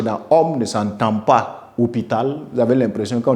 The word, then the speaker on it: hôpital: parler de garçon homme vous voyez que la prononciation du H qui est dans homme ne s'entend pas hôpital vous avez l'impression quand on dit hôpital ça